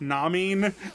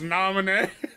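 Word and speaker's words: Naminé: I thought Marluxia, Namin. I didn't know it was Namine.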